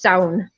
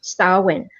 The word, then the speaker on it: Samhain: Usually in Irish, it's sound. It's solid one word, like clown, but with an S. It's sound. But in Scottish Gaelic, it's usually pronounced Samhain. So it's two syllables.